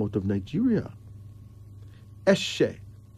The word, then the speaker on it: Eshe: Eshe. E-S-H-E. Pronounced Eshe.